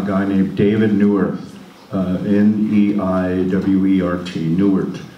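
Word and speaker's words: Neiwert: I just finished a superb book by a guy named David Neuwirth, N-E-I-W-E-R-T, Neuwirth, I think is how you pronounce his name.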